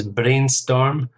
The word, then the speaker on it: brainstorm: to brainstorm so this brainstorm some new ideas for the new advertising campaign brainstorm two syllables stress on the first syllable next one okay you've